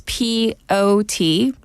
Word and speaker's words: potpourri: By the way, that's POTPOURRI, potpourri. And Yeah. that's one word. Yeah. And the T is silent.